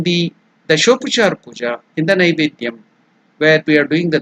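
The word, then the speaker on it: नैवेद्यम्: See, it is not, some people in some parts of India, they pronounce it as Nevedyam. It is not Ne. It is Nai.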